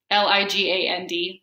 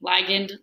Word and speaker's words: ligand: When you have a particular molecule that sticks to it, it's called a ligand and a receptor, L-I-G-A-N-D, ligand, ligand, however you'd like to pronounce it.